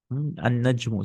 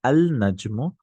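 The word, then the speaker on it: النجم: An-najmu. See, I'm not saying al-najmu. I'm saying an-najmu ba'idun.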